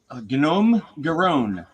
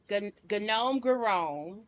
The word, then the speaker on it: Gnome Garone: Gnome Garone. Yeah, it's kind of like homegrown, right? Or gnome grown because there's Mhm. gnomes in the story.